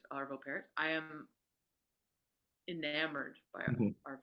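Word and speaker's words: Arvo Pärt: his name is pronounced I I say parot I think it's I think it's got the the umlout over the a I think it's parot arvo parot I am enamored by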